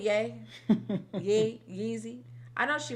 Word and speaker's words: Ye: You said Y-E. I know she meant yay.